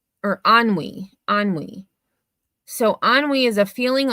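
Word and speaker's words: ennui: So it's pronounced or ani anwi. So anwi is a feeling of listlessness and disatis dissatisfaction arising from a lack of occupation or excitement. Example, he succumbed to onway and despair.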